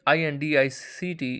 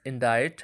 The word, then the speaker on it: indict: The word INDICT is pronounced as indict, as ChatGPT has summarized it, which sounds like indict, rhyming with kite, even though it has a C in the spelling, but C in this case is silent, so it has to